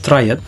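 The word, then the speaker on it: triad: Beberapa di antaranya yang pertama ada triat atau pelafalan dalam bahasa Inggrisnya yaitu triiad.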